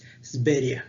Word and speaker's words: Sverige: Está escrito en sueco aquí, por eso lo ven como Sverige, Sveria. Es como ellos lo pronuncian, casi como decir Siberia, Sveria.